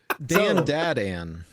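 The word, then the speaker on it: Dandadan: d a d n yes how dare you spell it wrong so Dan dadan yeah you have no you have to say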